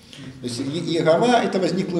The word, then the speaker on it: Иегова: Но если буквы, обозначающие это имя, произнести с этими неправильными гласными, то получится Иегова. Понятно? То есть Иегова это возникло в Европе в средние века.